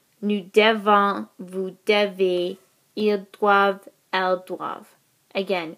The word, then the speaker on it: doivent: Nous devons, vous devez, ils doivent, elles doivent. Again, we don't pronounce the ENT here.